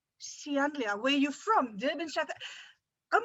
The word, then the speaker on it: Ceanlia: your name sian lia how do you say that sian lia where you from south